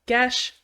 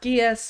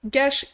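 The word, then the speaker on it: geas: that's right it's pronounced GES not gas or GES or any other various pronunciations GES is a an Irish word it comes from Irish mythology and it means a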